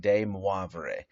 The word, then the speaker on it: de Moivre: it right okay but de moivre i had a friend that spoke french and told me that that's how to say it so that's what we're